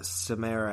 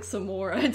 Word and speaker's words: Samara: But I kept calling the ring girl Samara anyway. Yeah. I was just like, what is Samara doing here? It's pronounced like Samora too, like in the actual movie.